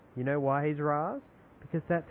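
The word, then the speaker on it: Ra's: one thing okay for me Batman Begins he's Ras you know why he's Ras because that's how he pronounces his own name this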